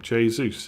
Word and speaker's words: Jesus: it i uh yeah why did you pronounce the j in jesus because that's how you pronounce his name jay zeus he's from uh he's brazilians it's portuguese jesus diogo jotta jose mourinho they're all hard jays but like jesus navis is spanish so it's different sorry to spam it's